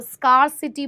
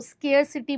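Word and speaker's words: scarcity: इसको स्कार्सिटी बोलो, स्केयरसिटी बोलो। बात एक ही है।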